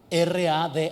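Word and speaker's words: רדה: señorear del hebreo original es la palabra rad r a d a con acento en la segunda rad y miren que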